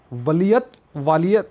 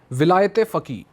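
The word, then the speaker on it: ولایت فقیه: आपके लिए एक वालियत, मतलब उसकी प्रोनाउंसिएशन गलत हो जाए तो सॉरी, ये है प्रोनाउंसिएशन, विलायत फ़की, मतलब इसको इंग्लिश में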